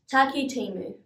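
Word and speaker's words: Takitimu: Let's break it up. Taki, your turn. Timu, you try.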